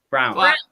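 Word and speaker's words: Braun: brown brown brown brown brown it's B it's spelled b-r-a-u-n but it's brown is it all right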